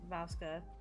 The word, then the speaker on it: Vasca: It is definitely Vasca, Vampire Kitty.